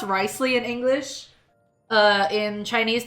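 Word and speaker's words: Wriothesley: in English it's okay so his name is pronounced ricely but it's written like this it's written like Rio thle because English is a horrible language for horrible people but it's pronounced rle in English uh in Chinese they say lios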